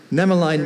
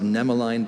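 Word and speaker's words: nemaline: Nemeline means having the form of threads. A number of myopathic diseases are characterized by the presence of nemeline bodies in muscle tissue.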